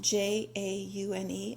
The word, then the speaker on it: jaune: Yellow in French is jaune, Jaune. I don't know how to pronounce it.